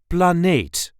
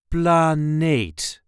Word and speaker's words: planeet: This is the way we say planeet. Planeet. Een planeet, or de planeet. A planet or the planet. Planeet. The emphasis here is on the second syllable.